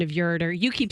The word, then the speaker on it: ureter: checking the pronunciation of ureter you keep saying ureter ureter ureter okay I thought it was your reader but no no okay no no